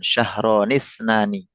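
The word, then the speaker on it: اثنتان: Untuk yang dua itu angka dua ya itu kan hamzahnya wasol maka pengucapannya diwasalkan. Syahronitnani ee sanatani. Ya misalnya wasal secara pengucapan tuh ya wasal dibaca nyambung itu dan kadang-kadang adat boleh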